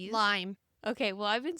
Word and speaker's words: Lyme: Is it lime's disease or Lyme disease? Limeme.